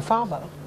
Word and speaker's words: father: I die killing my father father father father my father it's a th so you pronounce it with your tongue in between your teeth father father covers rescue